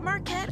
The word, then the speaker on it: Marquette: to say marquette's name is it Marquette or marquet let's ask the man himself what's up everybody this is Marat marquet the king and you listening to